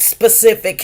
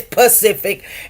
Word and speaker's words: specific: dumb yeah you know he cannot pronounce a lot of words like specific he says Pacific and then this other